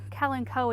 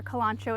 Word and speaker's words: Kalanchoe: panda plant right here kellen coe or kalancho if you live in my area that's how we pronounce it this is kind of